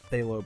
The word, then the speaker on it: phthalo: killed it down a little bit with the phthalo blue that's how you say it so I